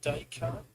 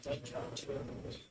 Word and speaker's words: Descartes: It's pronounced Descartes. Tom, French philosopher. After Descartes. Descartes.